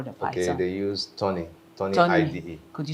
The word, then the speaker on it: Thonny: they use Tony Tony. IDE. Could you spell it for our audience?